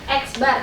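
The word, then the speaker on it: x̄: Iya, rata-rata dilambangkan dengan x bar. Jadi, kan kalau data tadi x ya. Kalau kalau data tadi X, kalau rata-rata dia X. Lalu di atasnya ada garis lurus di atasnya dibacanya adalah X bar.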